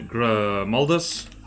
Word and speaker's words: Grimaldus: And you have to say it like that. You have to say Grimaldus.